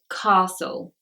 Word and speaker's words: castle: just uh sir science number six is castle castle and this is the wolf with a letter T the T is silent in Castle you just